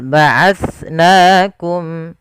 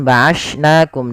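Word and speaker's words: بَعَثْنَاكُم: Sama sebagaimana tadi pelafalannya dengan sa yang pertama, terkhusus dia kalau dia hurufnya sukun. Nah, ini harus diperhatikan dengan baik juga. Jangan sampai kita menggantinya dengan ba'ashnakum dengan sin. Misalkan dengan sin atau dengan huruf sin gitu ya.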